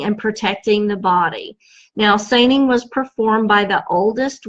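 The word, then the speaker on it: saining: interesting there there's an old Scottish tradition called seining and I'm gonna spell it for you in case you want to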